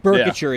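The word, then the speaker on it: Boerkircher: Burkature is how you say his last name.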